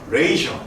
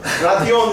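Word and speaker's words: ratio: 근데 실제 저 영어 이거 발음표 보니까 라티오라고 안 읽더라고. 레이셔라고 읽더라고. 영어 수업도 해줘야 되나? 잘 들으세요. R-A-T-I-O. 라티오 no. 레이셔. 따라해주세요. 레이셔. 레이셔.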